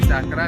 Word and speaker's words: Cakra: Arya tuh kalau bahasa Jawa dibacanya Cakra kalau bahasa Jawa jadi Cokro.